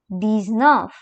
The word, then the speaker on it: dix-neuf: Then we have 19, which is dix-neuf.